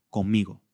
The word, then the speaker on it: conmigo: está escrita, pero que realmente se pronuncia conmigo, con una M, porque la boca se prepara para el sonido m siguiente.